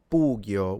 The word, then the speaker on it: pugio: The sword is a pugio with the u being long.